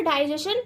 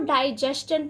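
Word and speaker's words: digestion: क्या पढ़ना है, इसका जो सही प्रोनाउंसिएशन है वह क्या है, डाइजेस्शन है। जैसे कि हमने इंजेस्शन पढ़ा था, इजेस्शन पढ़ा था, इसी तरह से इसका जो राइट प्रोनाउंसिएशन है वह डाइजेस्शन है।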